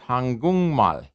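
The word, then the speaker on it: 한국말: changes to an ng the k changes to an ng it's pronounced hangung mal why because this voicing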